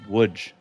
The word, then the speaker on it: Łódź: Now, that is spelled Lodz, but it is pronounced Łódź.